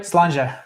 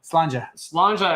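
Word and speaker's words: Sláinte: of of Europe, they they have a bunch of letters and then they don't pronounce half of them. That's right. I don't get it. That's how it goes. Slanja everybody.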